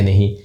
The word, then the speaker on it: know: इसको भाई करना तो बोलते ही नहीं है, के साइलेंट रहता है जी, के तो हमारा साइलेंट हो गया, न और ओ इसको व बोलते नहीं है, नो बोलते हैं जी।